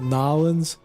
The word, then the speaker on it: New Orleans: I think the locals pronounce it Nolens. Kind of missing some syllables in there, but I love this livery.